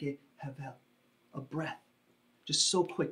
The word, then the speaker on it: hebel: The word he uses here is the Hebrew word hevel, hebel, spelled H-E-B-E-L. We pronounce it hevel.